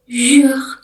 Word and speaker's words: jour: Jug itu artinya hari. Jadi kalau misalkan kalian familiar dengan tokoe yang ada di mall-mall Jakarta itu ada e toko namanya tu le itu bacanya le jug artinya everyday atau setiap hari gitu.